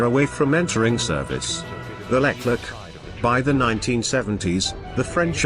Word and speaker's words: Leclerc: The resulting AMX-56 Leclerc, pronounced Leclerc, took its name from the French general whose armored division liberated Paris in 1944.